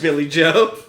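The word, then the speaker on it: Billy J'O: like signing something and his name's spelled J Billy J-O, but the J, The J is silent. Yeah, just Billy Joe. We did it. It's written like Billy J apostrophe O.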